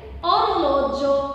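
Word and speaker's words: orologio: تمام، ولو جه او اي او طبعا هقول جو زي اورلوجو، الساعه اسمها اورلوجو.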